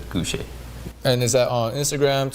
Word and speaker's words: Gousheh: My social handle is Sam_GOUSHEH. You pronounce it Gouche.